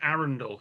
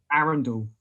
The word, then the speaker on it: Arundel: And it's weird, like you pronounce it Arundel. You're from that neck of the woods, so that's how you pronounce it. Arundel, it's weird, not Arundel.